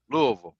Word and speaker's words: Louisville: nut no it's it's l u Lou space v l Louisville that's how it's pronounced for sure you gotta say it with your mouth CL mouth closed Maxwell got it that's